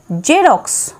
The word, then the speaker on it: জেরক্স: যেমন দেখো এক্স ই আর ও এক্স এখানে প্রথম এক্স এর উচ্চারণ জয়ের মতো এবং শেষ এক্স এর উচ্চারণ এক্স এরকম। তো উচ্চারণটা কেমন হচ্ছে দেখো এক্স ই আর ও এক্স, জেরক্স, জেরক্স।